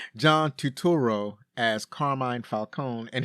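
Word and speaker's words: Turturro: was something else John tutoral oh no no that's not how you say his name John tuturo as Carmine Falcone and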